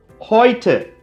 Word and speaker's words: heute: ஏவும் ஊவும் டாய்ச்ல ஒரு வார்த்தையில சேர்ந்து வந்தா அதை ஓய்னு சொல்றோம். எடுத்துக்காட்டுக்கு heute இன்னைக்கு, Leute மக்கள் அப்படின்னு அர்த்தம்.